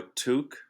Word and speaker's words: toque: Oh, a toque, Toque.